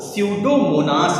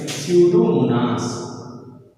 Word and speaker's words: Pseudomonas: है, जैसे बेटा इसमें पी क्या होगा, साइलेंट होगा। पी जो है आपका साइलेंट होगा, तो स्यूडोमोनास इसे पढ़ेंगे। इसको क्या पढ़ेंगे, स्यूडोमोनास।